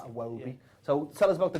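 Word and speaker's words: Iwobi: game 2-1 to Watford aobi it was you have to say it like that aobi so tell us about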